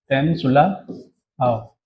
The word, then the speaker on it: Temsula Ao: आप इसको कैसे प्रोनाउंस करेंगे? टेमसुला आओ। और ये एक फीमेल हैं और ये असम की रहने वाली हैं, इसलिए इनका नाम इस टाइप से है, टेमसुला आओ।